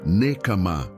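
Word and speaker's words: נקמה: Se pronuncia nekamá.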